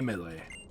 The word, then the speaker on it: Mele: them and all Mele melee I did look up how to pronounce that um like a Hawaiian pronunciation it is mele Mele may this Pokemon battle